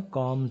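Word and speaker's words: combed: এখানে বিয়ের উচ্চারণ হবে না, কমড হবে, কমড।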